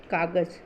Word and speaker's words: कागज़: इसका सही उच्चारण होता है कागज़। ज मतलब इसके नीचे जब हम ये डॉट लगाते हैं, नुक्ता लगाते हैं, तब ये इसका उच्चारण हो जाता है कागज़, कागज़। और ऐसे अगर इसके बिना हम इसका उच्चारण करें तो ये हो जाएगा कागज, जो गलत होगा, और ये सही है।